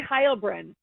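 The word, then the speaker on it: Heilbrunn: lips just just yeah the official pronunciation Annie hbr hbr Annie she said hbr like like you're waving high at someone hbr hbr hbr okay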